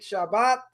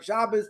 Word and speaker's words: Shabbat: So the Gemara says, the end of tractate Shabbat or Shabbos, depending how you want to pronounce it, and that is that Jewish people are above that.